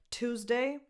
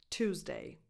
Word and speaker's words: Tuesday: So the beginning of this day of the week sounds just like the number 2 or either of these prepositions. 2. Tuesday.